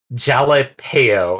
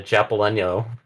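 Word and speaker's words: jalapeño: But then going hearing jalapeno, and I'm like, the fuck is a jalapeno? Jalapeno. Well, that's the AI. Yeah, that makes sense. Not I surprised. mean, like I know I mispronounce it Japaleno.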